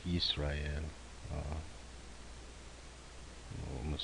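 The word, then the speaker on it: ישראל: haven't learned yet, but in Hebrew you would really say Israel, like Yisrael.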